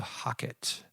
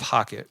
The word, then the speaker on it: HOCATT: So I came across this machine, and it's called the Hocket.